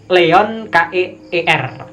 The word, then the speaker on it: Leon Keer: Guerrilla art oleh seniman yang bernama Leon Keir atau Leon Keir. Leon Keer.